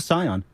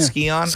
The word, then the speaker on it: Scion: oh I drive a Scion is that how you pronounce it yeah Scion Scion not skion I never knew how